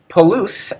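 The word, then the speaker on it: πολύς: Polus has the accent on the last syllable, so it's actually just a springboard onto whatever follows it.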